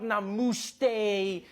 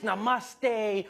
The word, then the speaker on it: namaste: People were coming on like, dude, it's not namaste, it's namaste.